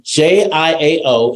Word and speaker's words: Jiao: so then you uh j i AO is pronounced j w j j Jiao then the is like the word sure but just with a Accent on the eye sure sure J sure J you speak very good